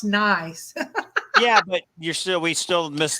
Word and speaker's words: gneiss: GNEISS is pronounced nice.